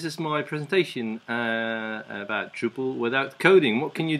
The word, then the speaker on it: Drupal: the name you say you pronounce it in Dutch as druple and if you spell that out it sounds like druple and that became Drupal so here we are